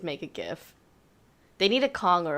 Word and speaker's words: GIF: just i'm just glad you're saying gif not jeff it's graphic interface right it's a hard g yeah there's yeah it's a hargee so which can we